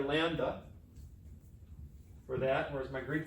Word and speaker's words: lambda: use the Greek letter lambda for that, whereas my Greek friend would say lambda. He says we're pronouncing it wrong. It's not a duh, it's a the. Lambda. He would actually be like lambda.